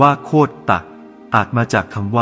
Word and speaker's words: โคตร: บาง กลุ่ม เห็น ว่า คำ ว่า โคตร อ่าน ว่า โคต ตะ อาจ มา จาก คำ